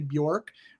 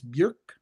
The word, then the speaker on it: Björk: That's not Bjork for Americans who love to say Bjork, rhyming with pork. It's Björk. That's how you pronounce that O with an umlaut on the top.